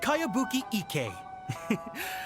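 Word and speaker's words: Kayabuki Ikka: one i've never heard of it hmm by cowabunga icky mia this is a really strange name who's this cowabunga it's pronounced kayabuki ek that would be me outlander brigade is a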